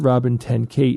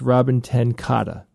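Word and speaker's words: Robin ten Kate: And then Robin did tell me how to pronounce her name, which is, it's not Robin 10 Kate, it's Robin 10 Kata.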